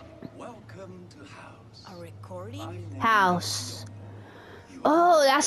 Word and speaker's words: HAUS: HAUS. Oh, that's how you pronounce it.